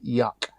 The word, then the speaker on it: Juck: If you want it to sound like proper German, it's juck is kind of said like yuck. Yuck.